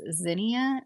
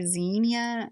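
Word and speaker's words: Zinnia: recommendations for cut flowers some people pronounce this Zin or Zenia I say Zenia they're super easy to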